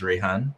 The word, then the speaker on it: Rahan: Kelly already gave a little bit of an introduction, but as she mentioned, my name is Rahan. I like to say it rhymes with Rayban, like the glasses, so it's a little easy to remember.